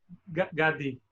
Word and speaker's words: Gadi: Gadi, sorry for, how do you pronounce it? Gadi.